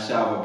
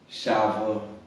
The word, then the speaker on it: Shiver: Shiver, not Shiver. Follow me on Instagram, Shiver. It's spelled like Shiver.